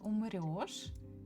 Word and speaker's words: умрёшь: But by pronunciation, we still need to use the sound yo. So we just need to remember, or we just need to know that word. So here, the word умрёшь actually is that particular